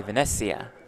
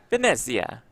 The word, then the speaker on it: Venezia: Is that good pronunciation? Italian pronunciation? Probably I think not. so, yeah. Oh, You nailed like it, Jeff. It rolls right off the tongue for you. Venezia. That's much better.